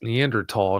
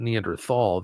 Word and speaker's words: Neanderthal: You'll be taken to a website where they show a Neanderl and it is pronounced Neanderl, not Neanderthal. The H is silent before I get blown up with a bunch of messages.